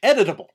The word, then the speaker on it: editable: I think you're putting one extra syllable in there. I think I am. Editable. Right. Editable.